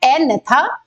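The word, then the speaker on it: Agnatha: divide कर सकते हैं एनेथ और नेथोन ठीक है यहां पर जी जो है वो साइलेंट है एनेथ एंड थो स्टोमेटा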